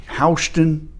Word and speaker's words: Houston: Houston, Ohio, pronounced the same way it is here in Georgia, is a little town north of Troy, Ohio.